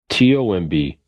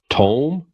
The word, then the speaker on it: tomb: English language you know he said it's like c-o-m-b comb t-o-m-b Tome no tomb and he kind of